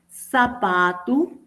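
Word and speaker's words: sapato: y una característica también de la o en final de palabra seguida o no de s tiende a sonar como u por ejemplo patu mininus jiku zapatu comprido puede ser zapato o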